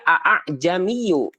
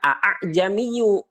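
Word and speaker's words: ءأعجمي: Nah, jadi cara membacanya bukan a'jamiyu, tapi hamzah keduanya ini disamarkan. A'jamiyu.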